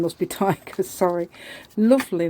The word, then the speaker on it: Taiga: her name must be tiger sorry lovely name it's spelled t t a i g a finish name what a lovely name and I found out it's pronounced tiger so that's amazing is